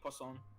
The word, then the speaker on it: Pon: to say Pon yeah no no that's the correct way to say pon pon is one of the easier French words to pronounce but like but like